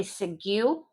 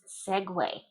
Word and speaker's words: segue: It's pronounced exactly like those standup things, little two- wheeled things you ride around cities as on a tour. That's a segue. Exact same pronunciation.